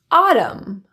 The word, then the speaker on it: autumn: When you see M, N consonants together, you can drop the N altogether. Here are some examples. Autumn, column, condemn, dam, solemn, and hymn.